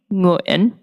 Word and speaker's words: Nguyễn: point out that NG is like the end of a word like bring. And so the way that your tongue is placed in the back of your mouth, bring, when you say that last syllable, is the beginning of how you would say our last name. Nguyen. Bring Nguyen.